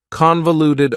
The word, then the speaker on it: convoluted: for you is convoluted convoluted also has four syllables and the stress is on the first syllable convoluted that second syllable again has that schah sound that reduced vowel sound convoluted convolute Ed if something is convoluted it